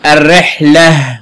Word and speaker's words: الرحلة: نلاحظ كلمة الرحلة، عند كتابة كلمة الرحلة هقف عليها بالسكون، هتنطق هاء، التاء المربوطة دي تنطق يا هاء، هقول الرحلة، نطقت يا هاء. طب لما شكلها من الرحلة تي، نطقت ايه؟ تاء. اذا تكتب تاء مربوطة. التاء التي، التاء المربوطة إذا وقفت عليها بالسكون هتنطق هاء، وإذا شكلتها بالفتح أو الضم أو الكسر تنطق تاء.